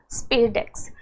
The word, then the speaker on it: SpaDeX: this particular uh mission that is spedex so you can pronounce it as spadex so in the Spex